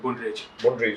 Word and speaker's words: Brundage: How do you pronounce that? Brundage.